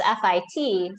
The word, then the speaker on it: fit: um part part yeah so the tendency for for brazilians is to say something like parche to make a the really ch sound or to make it sound like it has an e on it um you know or f i it well it's actually just fit so in english it's it's fit right but it's probably